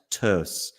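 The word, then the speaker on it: Töss: team in in Switzerland called FC well it's pronounced tur because it's got an umlout over the O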